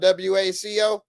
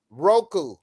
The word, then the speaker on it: Roku: it's spelled WACO. No, it's ROK. Roku.